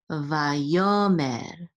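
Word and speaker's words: ויאמר: It's a mapach. And it tells us that the accent is on this second syllable right here.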